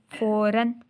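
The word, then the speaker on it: فوراً: ठीक है, लिखते हैं हम लेकिन प्रोनाउंस हम उसको डिफरेंट करते हैं। जैसे फे ज़बर वाव रे अलिफ दो ज़बर अन, फ़ौरन। आनन फ़ानन, आनन फ़ानन, अलिफ नून ज़बर नन।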